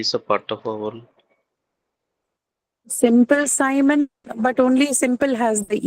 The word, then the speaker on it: Simon: should be there in Simon as well. But we're saying Simon, it's I, not E, right? It's written as I using the letter I, but it's not pronounced E. It is pronounced I.